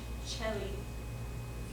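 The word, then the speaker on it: caeli: Before the vowels E, I, and E, it's pronounced like ch. Just like we just looked on the other page, chelly. Remember? Chelly.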